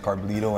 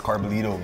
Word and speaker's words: Carbullido: nickname carbs is uh my last name's carblito and uh a lot of the guys out there the the Brazil million guys like Professor all of the boys um they couldn't pronounce carbolito you know can you